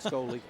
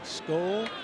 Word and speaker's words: Skoll: He said, when you pronounce my name, please get it right. It's not Scully. Third time through the lineup for Frisco. Skoll, not Scully, draws the walk.